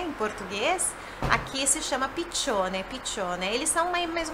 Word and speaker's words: piccione: Olha só a pronúncia de piccione, piccione. Dois Cs tem esse som, né? Você sabe que o CI ou o CE tem o som de TI ou de TCHE.